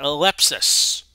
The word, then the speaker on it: Lepsis: The tackle by Lepsis. I believe that's how you say his name, like it rhymes with sepsis.